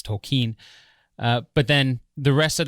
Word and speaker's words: Tolkien: movie when the teacher pronounces his name cocaine or something like that and and Ronald corrects him it's tokine but then the rest